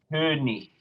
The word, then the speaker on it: König: A final little thought, because we have this often here in German as well, a final IG spelling is going to be a Ich laut. König, König.